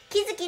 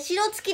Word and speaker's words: 城月: 白に月と書いて、白月でもありません、木月って読みます。